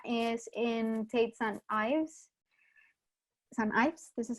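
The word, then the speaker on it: St Ives: St. Ives, this is how you pronounce it?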